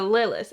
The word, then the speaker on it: Lillis: is the rosemary tea designed by Ashley Lis yes rhymes with Willis so Lis Ashley Lis I have